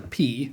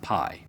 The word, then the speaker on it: pi: Both the ancient and modern Greeks call this letter P, not pi.